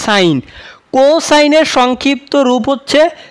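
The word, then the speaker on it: sin: শুধু সাইন ঠিক আছে এটা কিন্তু আবার সিন না অনেকে আবার সিন উচ্চারণ করো কিন্তু এটা কিন্তু সাইন কোসাইনের সংক্ষিপ্ত রূপ হচ্ছে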